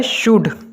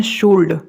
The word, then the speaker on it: should: Next word क्या है, शुड। अक्सर लोग इसको बोलते हैं शुल्ड, शुल्ड, लेकिन यहाँ पे भैया शुड बोलते हैं।